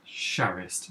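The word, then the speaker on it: Charest: which is a really stupid hard name to pronounce but it's Travis shareist ch AR EST drawn copies of wild cats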